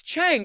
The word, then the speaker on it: Chang: I know, but it's Chang. But so many people say Chun. It really bothers me. So, we open with Robin Roberts. She's sitting down with Joyce Chang's brother, Roger.